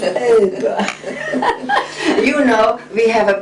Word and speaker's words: Epe: Even though it's spelled E-P-E. It's Epa.